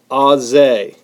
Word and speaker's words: Auger: a related thing that is spelled like auger, but it's pronounced like Auze.